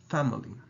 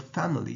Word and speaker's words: family: it comes to English although the word family has an i in the middle it's actually a schwa sound so there you go